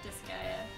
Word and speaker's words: Disgaea: How do I pronounce this game? You're saying it right, Disgaea. Disgaea.